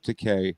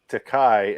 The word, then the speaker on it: Takei: talking about it's george takei as in rhyme with the gay takai as in rhymes with oh my is incorrect but i mean but